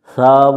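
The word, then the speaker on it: ث: তার নাম মাখরাজ এটার সাব অক্ষর কেমন করে পড়তে হয় এটা হচ্ছে প্রশ্ন উত্তর সাক্ষর জিহব্বার আগা থেকে নরম করে পড়তে হয় আগা অর্থাৎ জিহব্বার আগাটা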